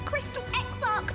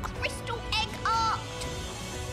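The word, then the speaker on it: Crystal Exarch: The name is Crystal X Arc, not Crystal Egg Art.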